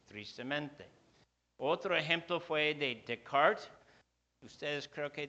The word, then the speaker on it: Descartes: otro ejemplo fue de descart ustedes creo que dicen Descartes nombre es francés se pronuncia descart y descart comenzó con